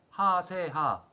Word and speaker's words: HASEHA: 카카오, 팔로우미, 하세하 라고 읽어야 돼.